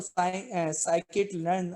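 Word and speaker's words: scikit-learn: तो एसके लर्न जो है साइंस किट, ठीक है, तो साइकिट लर्न आप इसको प्रोनाउंस करते हैं, कैरिस वगैरह टेंसरफ्लो वगैरह ये सारी चीजें आप देख लेंगे, ये किताब भी मौजूद है।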